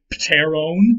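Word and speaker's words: pteron: t so it'd be paterone all right in modern english we uh we don't do that we don't like to say pt at the beginning or so we just make the p silent and say taro or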